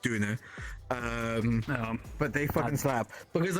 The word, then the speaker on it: Döner: Doner kebabs are meant to be pronounced Döner.